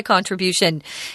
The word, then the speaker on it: contribution: That was my contribution. Guys, I hear a lot of people in Taiwan say contribute. It's contribute. So the zhongyin is on trit, contribute. And this is contribution on the third syllable.